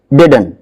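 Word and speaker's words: didn't: ये टी जो है इसका साउंड थोड़ा लाइट रहता है, ऐसे ये डिडंट नहीं, डिडन। प्रोनाउंसिएशन एक बहुत बड़ा मुद्दा है इंग्लिश में, डिडन, इसका ये प्रोनाउंसिएशन रहेगा, लेकिन मोस्टली स्टूडेंट इसको क्या साउंड दे रहे होंगे, डिडंट।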